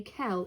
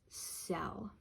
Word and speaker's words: cell: The C is coming before an E, so it's going to be soft, meaning it's going to be pronounced like a S. This does not say kel, it says cell.